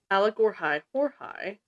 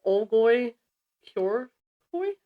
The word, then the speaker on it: Olgoi-Khorkhoi: If you heard me say Allergorhai Horhai, that's one pronunciation of it. It could also be the Olgoi Kyorkoi, which is OLGOI-KHORKHOI.